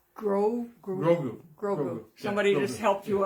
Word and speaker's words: Grogu: Grogu?